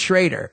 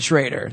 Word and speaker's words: Schroeder: Well, it's pronounced Schrader. It's spelled Schroeder, but they pronounce it Schrader.